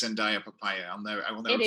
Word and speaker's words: Andaya: So my name is Andaya. Andaya rhymes with papaya, so I've always kind of gone by Andaya Papaya.